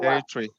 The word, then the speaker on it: territory: Territory. Pronounce like this one, secondary.